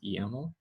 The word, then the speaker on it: YAML: If it files ending in YML, we pronounce YAML.